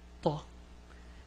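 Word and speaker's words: ثاء: It's Thaa. It's not Ta. This is a Ta, and this is a Thaa.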